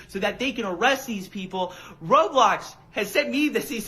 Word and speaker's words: Roblox: I call it Roadblocks. And my daughter's like, "It's Roblox." R O B L Ox. Roblox.